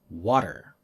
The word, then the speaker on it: water: the pod okay now when t is between two vowels americans change it to the sound like japanese regul the change doesn't happen if the next sound is stressed though so we'll say butter butter and water water but we don't say